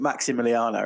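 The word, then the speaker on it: Massimiliano: it is massey miliana it's double s but you pronounce it maximiliano right oh wow so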